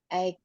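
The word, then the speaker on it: eight: Take my daughter to school at 8 AM until 9. Bacanya GH-nya nggak usah dibaca.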